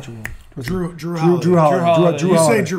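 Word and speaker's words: Jrue: Drew Holiday.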